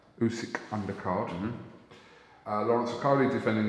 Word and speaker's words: Usyk: Usyk. Yeah. That's normally say it right. Usyk undercard.